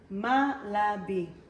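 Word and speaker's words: מלבי: As I'm stirring it, let's take a look again on the Hebrew word for malabi. Malabi. The letters are Mem, Lamed, Bet, Yud, Malabi.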